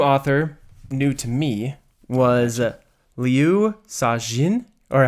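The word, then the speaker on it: Liu Cixin: my favorite new author new to me was Leu sain or how do you say it go ahead leuin siin okay this is the author of The Three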